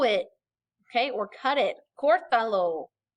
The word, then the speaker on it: Córtalo: Córtalo, okay, accent on your O.